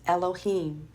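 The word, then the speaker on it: אלהים: to the plural form of alua which is pronounced Elohim it has two additional Hebrew letters added and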